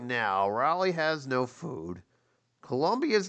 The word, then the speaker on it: Raleigh: and rally Raleigh trains I almost mispronounce rally as rally like no I'm pretty certain it's Raleigh look they're already in